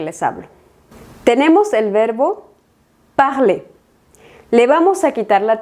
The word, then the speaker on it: parler: Y es que cuando el verbo del primer grupo está al infinitivo, es decir, sin conjugar, no se pronuncia la R del final.